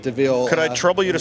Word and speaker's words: DeVille: That's the famed DeVille, DEVIL. We might say devil, but they pronounce it DeVille.